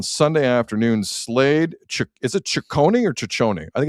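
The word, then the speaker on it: Cecconi: And on Sunday afternoon, Slade, is it Ciccone or Ciccone? I think it's Ciccone. I think it's a hard C.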